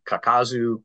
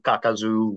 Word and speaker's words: Kakazu: Either way, you just want to keep your pronunciation flat. Kakazu, Kakazu, Okay, whatever.